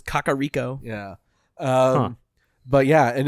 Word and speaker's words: Kakariko: I said Kakariko for a long time until I was told it was Kakariko.